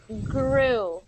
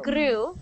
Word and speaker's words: grow: um with my tongue so I'm hearing glue grew and your tongue is vibrating as it makes that our sound I want you to take your tongue stop it from moving and pull it back like this so grow so your tongue is far back in your mouth grow not grew but grew grew so